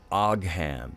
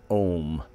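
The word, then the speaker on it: Ogham: it phonetically looks like AG ham or oak ham it spelled oGH a.m. but it's pronounced in Irish it's pronounced ohm like Ohm's law and they were there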